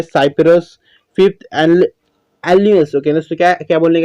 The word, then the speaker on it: Alnus: Fifth एलन्यूस। Okay दोस्तों, क्या क्या बोलने का दोस्तों, एलन्यूस, ALNUS। ओके, एलन्यूस बोलने का।